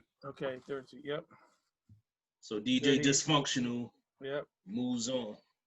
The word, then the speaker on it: Dysfunkshunal: 38 was DJ Dice Funk. Hold on, let me say his name right. Hold on, because it's not fully reading it on here. DJ Dice Functional. DYSFUNKSHUNAL. Oh, dysfunctional.